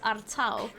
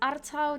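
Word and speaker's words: Artaud: spelled are towed apparently it leans a bit towards the french side and is more pronounced artau now if any of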